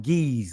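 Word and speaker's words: Ge'ez: it God eyes right the true pronunciation of it is today they call it geez or get s but let me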